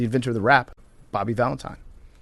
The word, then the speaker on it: Valentine: he is, the inventor of the rap, Bobby Valentine. Okay. We now welcome on a very special guest. It is Bobby Valentine. Valentine. Why did I just screw that up? Valentin. Valentin. Valentine.